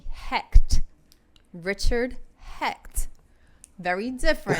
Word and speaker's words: Hecht: __ ] no no his last name was h-e-c-h-t hect richard hecht very different how did you get